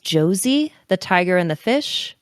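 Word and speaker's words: Josee: stranger your name uh I think it's pronounced Josie the tiger and the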